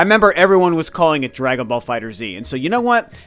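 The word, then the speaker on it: Dragon Ball FighterZ: video but I know the game is actually pronounced Dragon Ball fighters but I just like saying Dragon Ball fighters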